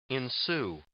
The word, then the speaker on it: ensue: Ensue. Ensue. Ensuing. Ensue. Ensuing. Yeah, ensuing. Ensuing. Ensue. This word. This word. Sue. Sue. It's Sue. It's not shoe.